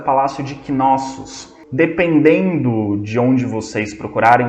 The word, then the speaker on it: Knossos: se escreve com K, pode ser Knossos com K ou com C, mas a pronúncia é a mesma, Knossos.